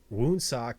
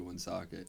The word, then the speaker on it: Woonsocket: oh my god um wound sock it's crazy um the whole like Rhode Island scene you say it like someone who's never been to Woonsocket yeah their goon's socket